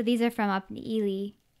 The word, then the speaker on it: Ely: So these are from up in Ely, Minnesota. Not pronounced Eli. Eli.